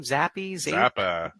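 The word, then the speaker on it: Zappe: He pronounced his last name Zappa.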